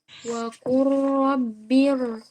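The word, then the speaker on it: وَقُل رَّبِّ: Ro ini dibaca tebal karena dia didahului oleh hamzah wasal. Oh, Jadi bacanya Terpantul, Mi. Belum pernah ya? oh iya, Mi. Hamzah wasal ya. Silakan diulang. Wa qur rabbir.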